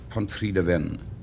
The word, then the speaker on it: Pontrhydyfen: How do you say what looks like Pontrhydyfen? Pontrhydyfen.